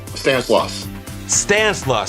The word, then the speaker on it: Stanislaus: That includes portions of the San Joaquin Valley and I believe it's pronounced I'm going to blow it. Help me out. Stanislaus.